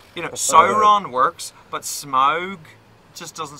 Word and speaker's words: Smaug: That's one problem I always have with Smog or Smaug, is pronounced properly. It is Smaug.